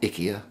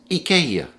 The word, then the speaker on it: IKEA: furniture superstar it's not ikea it's not ikea it's ikea ikea we get the name